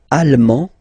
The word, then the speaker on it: allemand: L'Allemagne, allemand, allemande, okay, same thing here. Okay, you don't pronounce the final D, but then you pronounce it here for the feminine form.